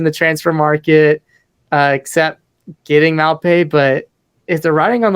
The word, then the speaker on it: Maupay: Maupe. From the range of 15 and 20 million pounds, and Everton still has no wins this season. Not really making any splashes in the transfer market, except getting Maupe.